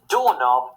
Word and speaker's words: doorknob: And doorknob has the silent K also.